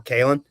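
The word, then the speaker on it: Kailyn: my daughter's name is kay lynn but it's not pronounced with two syllables really it's more kalin uh k-a-i-l-y-n all right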